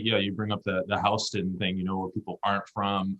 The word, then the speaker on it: Houston: they won't know any, they'll mispronounce Houston. They'll pronounce it like Houston Street, Yeah.